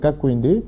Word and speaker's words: Kankwende: J'espère avoir prononcé votre nom comme il se doit, Kakwende. Kakwende, voilà.